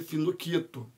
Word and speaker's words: Finochietto: também outro instrumento chamado fino quieto mas se pronuncia fino quieto por que que serve